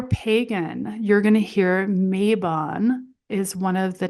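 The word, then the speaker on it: Mabon: And I have heard this name pronounced a couple different ways before, but uh it looks like for the most part a lot of the books and a lot of the information out there does pronounce it as Mayabon.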